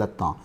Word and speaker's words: attendent: Il attend, elle attend. Nous attendons. Vous attendez. Il or elle attendent. ATTNDND, but the pronunciation will be attend.